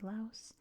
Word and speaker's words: Laos: We have the Pathet Lao line coming through here, through Laos, or Lao, depending on where you're from. The official USA pronunciation, you say the S. In most countries, you don't.